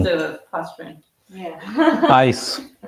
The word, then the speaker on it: ICE: Ice. Ice. Why it's called ice? Yeah, they don't pronounce it like ice. They say ICE. It's not ice.